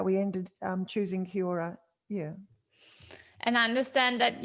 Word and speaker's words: Kia Ora: Oh yes, Kia Ora. You have to. You Sorry, have to. Kiora. No, no, no. The Maori shearers are very keen on correcting me if I don't pronounce it properly.